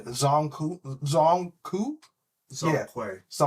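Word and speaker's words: Zhong Kui: Um I'm probably going to butcher this pronunciation. Zongu Zong Coup Zong Quay Zong Quay Zong Quay.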